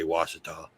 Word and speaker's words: Ouachita: in ouachita parish but if you look at the way it's spelled it doesn't even say washita what the excellent the